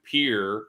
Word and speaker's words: Pierre: if I leave on the 10th, I can go to Pierre, even though it's spelled Pierre, South Dakota, to my buddy's bar, the Grey Goose.